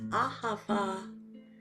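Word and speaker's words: אהבה: be using the words ahava, which means love in Hebrew. It has 3 syllables, all with an ah, because ah is meant to open the heart.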